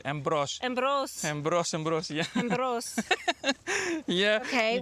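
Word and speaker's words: Εμπρός: How do you say embros. Embros.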